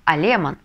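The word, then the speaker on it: alemán: голосом а Леман но мы читаем как алиман поэтому мы на последний слог доставляем ударение немец будет алеман а немка алемана в слове алемана нужно ли ставить ударение или нет Как вы думаете ударение ставить не нужно потому что заканчивается слово на А значит мы и так Ставим на предпоследний слог ударения алеман алемана в мужском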